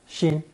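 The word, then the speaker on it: 辛: This lesson is the fourth installment introducing characters containing that ceremonial knife pronounced shin.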